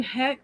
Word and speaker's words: Heche: It's Anne Heck, or it's spelled Heche.